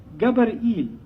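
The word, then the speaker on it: גבריאל: Gabar'il. Gabar'il is how they pronounce it in Hebrew.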